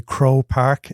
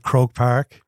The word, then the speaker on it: Croke Park: So I would say Crow Park instead of Croke Park.